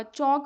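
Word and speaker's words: chalk: अभी यहां पे आपको जैसे कि जब मैं अ चौक बोलती हूं ना। ठीक है? चौक बोलती हूं तो चौक में एल साइलेंट होता है।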